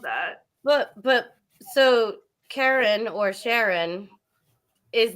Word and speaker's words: Charon: Oh, that's how you pronounce it, Sharon. Okay. Well, I heard a British person saying it, and British people are often pronounce things weird. So that's I thought Karen it's Charon.